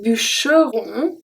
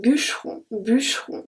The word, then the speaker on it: bûcheron: For this one, be careful that I don't say un bûcheron. I don't pronounce the E. I say un bûcheron.